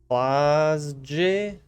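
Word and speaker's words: Klaasje: Oh, is it a G? Is it supposed to be like a almost like a G? They replaced G's with J's. Klausje.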